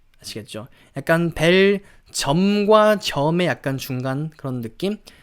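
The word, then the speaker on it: Belgium: 좀 들어 보셨을 것 같은데 이렇게 베일 질염 벨 기염 lg 5 뭐 그런식으로 좀 생각을 해 보실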